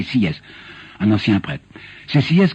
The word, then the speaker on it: Sieyès: Deuxièmement, sur le droit de vote, c'est Sieyès, quelques-uns appelaient Sieyès, mais je sais qu'ils ont prononcé, que lui-même prononçait Sieyès, un ancien prêtre.